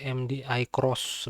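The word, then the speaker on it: MDI-X: Kita coba searching di ini aja lah ya di auto MDI dan MDI bukan MDI ya tapi MDI cross sebenarnya kalau bacanya itu.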